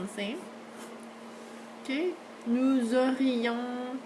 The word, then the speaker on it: nous aurions: Okay, nous aurions parlé, okay, on prononce le S, vous auriez parlé, ils auraient, this one sounds the same as these guys.